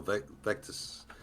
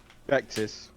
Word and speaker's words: Vectus: I'm even starting to think along the lines of just a Greater Victus or Vectus. Is that Victus or Vectus? How do you pronounce it? Vectus.